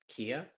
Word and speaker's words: Kea: another brightly colored bird is it Ikea is that how you pronounce that Kia this one's a yes yes thank you I just